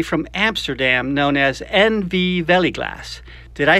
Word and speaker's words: Veiligglas: safety glass company from amsterdam known as nv veliglass did i say that correctly steve yeah it's touch so it's pronounced velik class okay my dutch bird freund i'll try to